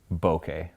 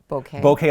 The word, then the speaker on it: bokeh: We're gonna say bokeh. Bokeh, like okay.